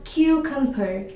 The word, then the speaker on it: cucumber: So you need to stress on the first syllable cube. And it's a long u. So you should say it as cucumber.